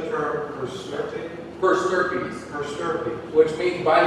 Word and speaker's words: per stirpes: Per stirpes.